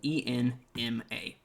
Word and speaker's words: Enma: to a track called oath of enma which is spelled e-n-m-a enma and it's like a slowed down more